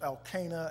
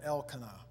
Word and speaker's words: Elkanah: Now, there was a certain man of Ramathaim Zophim, the mountains of Ephraim, and his name was, and I got two pronunciations, Elkanah and Elkanah.